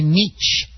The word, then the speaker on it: niche: That is the correct pronunciation in England, but we do a lot of things differently here in the States. Niche sounds like a scream. Like if someone poked you too hard, you'd let out a niche.